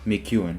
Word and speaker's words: McEwen: Turns out that's actually how you say it, McEwen, which I originally thought was how you said it.